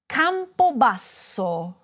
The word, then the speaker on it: Campobasso: Repeat after me: CAMPOBASSO, Campobasso is the capital of the Molise region. Did you hear how the double "s" was held for longer?